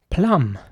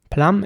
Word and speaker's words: plum: Plum is spelled P-L-U-M, and here it is important to pronounce the U towards the end like an R. So it's plum, not plum or plume or something, but plum. I'll say it again, plum.